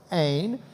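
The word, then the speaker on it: ἦν: first of all this what looks like an n and a v is actually a long e with an n sound okay so it's ain um but within the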